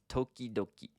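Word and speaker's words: ときどき: So here is a 4-syllable word that not only uses consonant vowel sequence, but it repeats too. So it's tokidoki.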